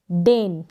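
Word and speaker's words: deign: यहाँ पर ये जो जी है, ये यहाँ पर भी है, इसमें डेन और रेन में एन प्रोनाउंस करें, जी का हम प्रोनाउंसिएशन यहाँ पर नहीं कर रहे हैं, साइलेंट रह रहा है।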